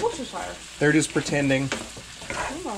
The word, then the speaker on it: Worcestershire: No one knows how to pronounce the sauce. It's Worcestershire.